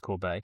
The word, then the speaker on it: Corbet: Yes, he's a French Canadian gentleman. So, you're right. It is pronounced Corb.